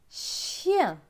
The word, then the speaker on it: chien: Plus loin, C-H. C-H, c'est ch. Avec I-E-N. I-E-N, c'est yin. Donc, ch et yin, chien.